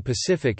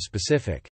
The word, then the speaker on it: specific: into fits of Rage someone saying Pacific instead of specific my wife says mannerism